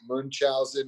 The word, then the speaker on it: Munchausen: Was it Munchausen or Munchausen syndrome by proxy, which I always have trouble pronouncing. Munch, like you're munching.